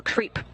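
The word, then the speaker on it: KREEP: they have a weird component that we call creep and it's spelled k r e e p and Central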